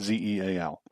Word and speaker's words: Zeal: Cillian is spelled Cillian, Zeal, like zealous, but Zeal.